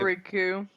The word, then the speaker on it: Riku: How about Riku? Is that how you pronounce his name?